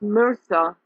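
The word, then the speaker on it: MRSA: on that balcony and it's pronounced Mercer but it's spelled mr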